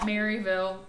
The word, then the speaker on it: Maryville: So Maryville is spelled like Maryville. It's said like Maryville.